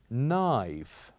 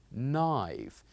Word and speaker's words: knife: this sound which is knife knife say after me knife so here also we pronounce it as knife because we kept the letter K silent we kept the letter K silent knife and next we have